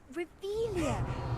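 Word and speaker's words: Revelio: You're Rebellious. saying it wrong. Ugh, Revelia. Much better.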